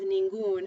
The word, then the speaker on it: ningún: that's what happens with ningún, and you add the accent mark because you've made uno into un, which is one syllable.